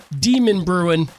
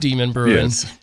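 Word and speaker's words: Demonbreun: years ago was well the d street right demon bruin yes which is not pronounced demon bruises and yeah that threw us off when we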